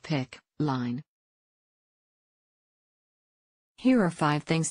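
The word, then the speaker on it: PICC: central venous catheters the other is the pic pronounced pic line here are five things to know about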